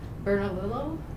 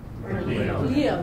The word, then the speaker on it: Bernalillo: That was in 2007, and that was from the economic importance of the arts and cultural industries in Albuquerque and Bernalillo? Bernalillo.